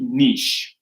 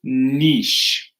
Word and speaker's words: niche: So I do have a question in here that says, can we repeat niche, right? So this is niche. So it's not your niche, it's your niche. Niche.